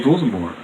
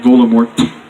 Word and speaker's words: Voldemort: By the way, Voldemort's name doesn't include the pronunciation of the letter T, as you might have noticed. It's actually Voldemort, not Voldemort.